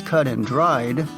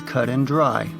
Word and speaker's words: cut and dried: Although the actual idiom is cut and dried, native speakers often pronounce it as cut and dry.